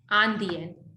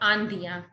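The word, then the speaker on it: indienne: Andian, not Andiya.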